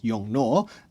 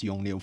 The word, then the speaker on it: Yongnuo: on, I will correct myself and I will pronounce the brand name as Yongnuo. But let's see whether I remember to do it all the time because I have been calling them as Yongnuo for quite a while.